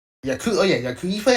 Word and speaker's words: yakuza: De Niro, 'cause he plays a lot of Yakuya. Wait, oh shit! Did I say it right or did I say it wrong? I'm not. Yakuza.